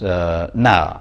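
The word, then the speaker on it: ណាស់: example very, which is na in Khmer, if you read the letters it's actually N-A-S-A, but the final S-A is not pronounced. So when you're reading and you come across na, and you're not very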